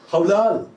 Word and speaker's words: hawlal: हौलाल, HAWLAL, हौलाल। अरे Hebrew word है, हलाल नहीं है, हिब्रू वर्ड है।